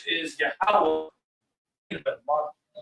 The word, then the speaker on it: Yahweh: So that pronunciation is Yahweh.